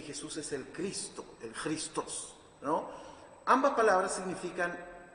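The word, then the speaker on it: Χριστός: Bueno, Cristo viene de una palabra griega que es chrien, porque en realidad Cristo se pronuncia Christos en griego.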